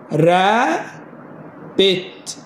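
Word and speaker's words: rabbit: ار A double P I T. ها لا ما تخيل، البي بي بتتنطق بي واحدة، فننطق دي ونقول ايه؟ را بت، رابت، رابت، رابت يعني ايه؟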